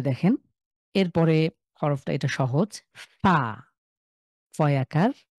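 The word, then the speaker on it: فاء: উচ্চারিত একটা হরফ বাংলা এই আরবির ফ টা হবে আমার ঠোঁটের নিচের ঠোঁটে উপরের দাঁত এসে স্পর্শ করবে একটু বাতাস বের হবে ফা উপরের দাঁত উপরের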